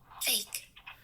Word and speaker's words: fake: Fake. फेक, फेक। अभी जैसे फेक में जो है ना, फेक हिंदी वाला फेक है, मुंह से आप एकदम पूरा बहुत सारा हवा फेंकते हैं।